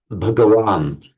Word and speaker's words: Bhagavan: Be Bhagavan in Sanskrit, Bhagwan, pronounced in modern Hindi.